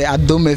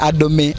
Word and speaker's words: Adomi: a dummy bridge but unfortunately the white were not able to pronounce the adome very well they say adobe adobe and it later became adobe bridge now in history we